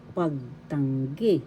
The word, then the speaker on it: pagtanggi: Pagtanggi. Negatives, pagtanggi. First syllable pag, second syllable tang, third syllable gi.